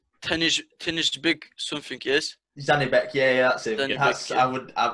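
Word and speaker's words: Zhanibek: So the semi-finals, Mo, please, can you pronounce this guy's name? Tennis big something, yes. Zanibek, yeah, that's it.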